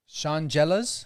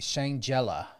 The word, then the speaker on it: Shangela: It was an incredible video by, it's Shangelas, if I'm saying her name correctly. I'm trying to think who that is. Divas for Democracy, Shangela.